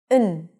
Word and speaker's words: and: So we generally don't say 'and', we just say n/ən. So we turn the a into a schwa - ə, and the 'd', just eliminate, we don't really need it.